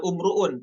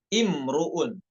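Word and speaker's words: امرؤ: bacanya dengan hamzahs e hamzahnya berharakat kasr bukan umruun tapi imrun ya imrun pada ayat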